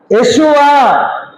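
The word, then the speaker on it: יֵשׁוּעַ: யெஷுவா, ஆமா, எபிரேய வார்த்தையில இயேசுவுக்கு யெஷுவா என்ற பெயர்.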